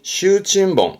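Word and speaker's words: 袖珍本: 그래서 발음이 슈친봉, 슈친봉입니다.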